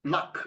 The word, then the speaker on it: lakh: I think there's a word called luck. I think it's luck, right? It's pronounced luck, right?